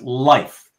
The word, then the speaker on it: Leif: Well, like I said, though, TJ, a friend of mine is same name, but it's pronounced life. So, yeah, I guess it can go both ways.